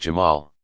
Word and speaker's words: Jamal: beauty and infinite attractiveness, Jamal, pronounced Jamal.